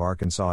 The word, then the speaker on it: Arkansas: In 1881, the state legislature defined the official pronunciation of Arkansas as having the final sb silent.